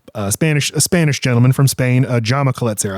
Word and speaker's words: Jaume Collet-Serra: Jaume Collet-Serra, I believe is how you pronounce his name.